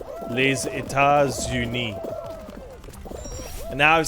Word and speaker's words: Les États-Unis: It does in pronunciation. Because S to U in French. It's called a liaison. Because it creates a Z noise. Les États-Unis.